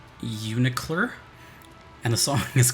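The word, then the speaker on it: UNICLR: Under Night in Birth, Executable Late CLR. Or pronounced Unicler.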